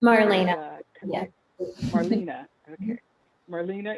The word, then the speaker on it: Marlena: And Marlana, am I saying it right, Marlana? Is Marlena.